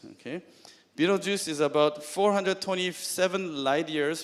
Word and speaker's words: Betelgeuse: to pronounce this one it's not Betelgeuse it's Beetlejuice Beetlejuice okay Beetlejuice is about 427 light